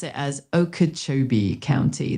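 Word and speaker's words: Okeechobee: You'd pronounce it as Okachobee County. The emphasis is usually on the Cho part. So, it sounds like Okachobee, but how does Juniper know?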